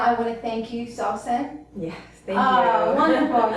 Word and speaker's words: Sawsan: Right now, I want to thank you, Sawsan. Yes, thank you. Wonderful. You pronounced her name correctly.